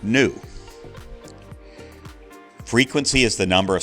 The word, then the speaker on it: Nu: unit of distance and new is the frequency so new is the Greek letter new pronounced new frequency is the number